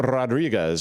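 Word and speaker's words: Rodríguez: Julio Rodriguez of the Mariners. You got to roll your R's.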